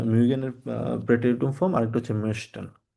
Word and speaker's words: möchte: Similarity হচ্ছে এখানে একটা হচ্ছে মেশটেন, এটা হচ্ছে umlaut আছে, আর একটা হচ্ছে mochten, এটাতে কোনো umlaut নেই।